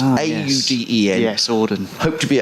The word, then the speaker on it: Auden: Auden, I think that's how it's pronounced, A-U-D-E-N.